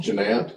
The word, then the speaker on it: Ganette: say your last name the last name is pronounced ginant that's why you just